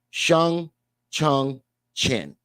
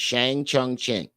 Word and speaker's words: Shang Chung Chen: I said it wrong the first time. It's Shang Chung Chen.